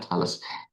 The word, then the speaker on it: Thales: Thales ini bukan makanan dari Bogor ya, Thales. Memang bacanya Thales.